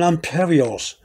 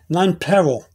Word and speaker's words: nonpareils: you pronounce it yourself i think most people are pronouncing imperials but some non-peril but i never heard it much pronounced the way that some people pronounce it uh which is none parade i guess that's more french if anything i think um don't